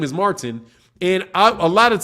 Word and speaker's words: Martin: no it's Martin so I literally have to say my name with a T I have to overdo the T Martin Oh Martin and